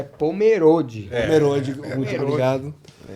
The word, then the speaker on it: Pomerode: Apenas uma pequena correção na pronúncia da cidade que é Pomerode.